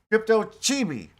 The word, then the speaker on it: Crypto Chibi: Chibi. Crypto Chibi. That's how you say it.